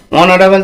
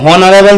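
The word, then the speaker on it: honorable: তার আগে অ্যান বসে, তাহলে অনারেবল তো হনারেবল তো আমরা বলছি না, আমরা কি বলছি অনারেবল, তাহলে অনারেবল অ এর মতন বলছি, স্বরবর্ণ আমরা জানি, স্বরবর্ণের মতো উচ্চারণ হওয়ার জন্য অ্যান অনারেবল অ্যান বসেছে, ঠিক আছে।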